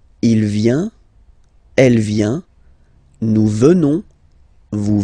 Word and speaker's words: venons: Nous venons. Okay? O-N-S, classical ending for nous. Okay? Final S not pronounced. So O-N, on, venons, venons. Nous venons.